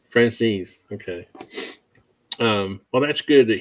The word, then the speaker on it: Franzese: How do you pronounce it? Franzese. Franzese.